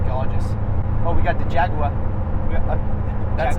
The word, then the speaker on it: Jaguar: Well, you thought it was Jagua? Yeah, like a gangster. Jaguar. I mean, even if you say it that way, it still sounds like Jaguar. you're saying with an R, but you're British. No, I just have to say like proper British, like Jaguar. Jaguar. That's Jaguar. You're saying it correctly.